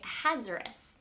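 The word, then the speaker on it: Ahasuerus: of persia his name this is a hard name to say his name is king hazarus now maybe you've heard people say it a little bit different but king a hazaris was the king there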